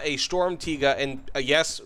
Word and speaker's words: Sturmtiger: this is not a stormtiga and a yes believe it or not that's how it's pronounced this is not a